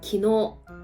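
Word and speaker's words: きのう: 또 대표주자 어제가 나와야겠죠 어제는 기어 이렇게 길게 끌어서 발음을 해주셔야 돼요 그럼 오늘은 표 이것도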